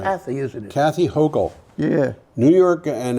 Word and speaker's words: Hochul: Kathy Hochul. Yeah. New York, and I might be pronouncing that slightly wrong, but Oh, Hochul is right.